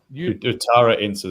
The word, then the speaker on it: utaraensis: Utara ensis. Utara means north in Indonesians, and ensis means from. So it means from.